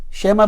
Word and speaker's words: שמע: Shema, by the way, is maybe. How do you need to say? Shema, the Ayin comes from here.